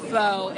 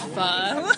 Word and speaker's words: pho: not faux, it's pho.